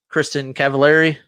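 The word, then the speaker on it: Kristin Cavallari: Jay Cutler and Kristen Cavallari.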